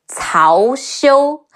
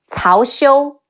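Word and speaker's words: 曹休: There's also Cao Cao's nephew, Cao Xiu. Cao Cao, C-E-O, Xiu, Cao Xiu.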